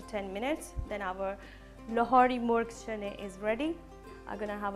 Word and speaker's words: Murgh Cholay: chickpeas, but you know there's a traditional pronunciation when you go somewhere, like when you go and sit in the food street in Lahore in Pakistan, and the traditional name is Murgh Cholay.